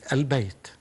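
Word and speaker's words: البيت: We read these letters, and it becomes quite obvious that this lam is pronounced. For example, Bayt, when we add to it alif lam, it becomes al-Bayt.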